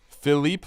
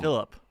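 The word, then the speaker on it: Filip: Phipe Forsber. Is it pronounced Phipe? Uh, depending on what accent you want. Peter Forsberg, potential relative. All right, let's roll with this. No, Phillip.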